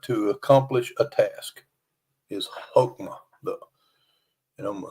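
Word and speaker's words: hokmah: meaning of the word wisdom in the Hebrew hokma hulma hulma in the Old Testament is skill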